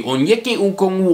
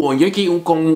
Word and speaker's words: Onyeka Okongwu: Coming in at number 5 is Big O, aka the next impossible name to pronounce in the NBA. Say it with me, Onyeka Okongwu, Onyeka Okongwu, Onyeka Okongwu.